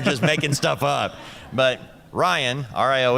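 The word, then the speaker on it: Rion: And he's got a new girlfriend named Ryan. It's spelled R I O N.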